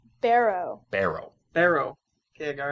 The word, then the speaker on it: Barrow: how do you say your last name is burrow Barrow Barrow Barrow okay I gotta remember that Teddy